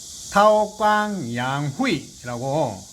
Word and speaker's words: 韬光养晦: 이 도광양회는 중국 발음으로 하면 타오광양후이라고 뭐 글자 그대로 해석하면 도광양회.